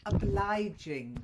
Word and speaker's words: obliging: And then obliging, to oblige. It's that Obliging, soft G, yeah?